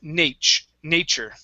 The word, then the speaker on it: nature: is nature so let's switch this t to a ch sound instead of nature it's nature nature good good all right